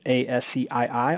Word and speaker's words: ASCII: as the American Standard Code for information exchange ASCI I often pronounced ASCII and this was a 7-bit character